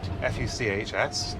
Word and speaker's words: Fuchs: How do you spell it? F-U-C-H-S, Oh, Fuchs.